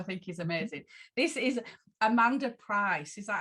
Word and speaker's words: Amanda Pryce: This is Amanda Pryce.